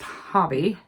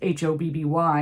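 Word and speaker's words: Hobbii: from Hobby, you know, you would think it would be pronounced Hobby, you know, because here, Hobby is H-O-B-B-Y and it's pronounced Hobby. And on here, it's H-O-B-B-I-I. So I would think it would say Hobby.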